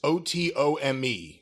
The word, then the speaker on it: otome: As with many other otome games, I don't know what this word is, O-T-O-M-E. I pronounce it otome, but certainly no relation to the Ottoman Empire.